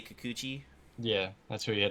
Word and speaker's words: Kikuchi: Yeah, you say Kikuchi.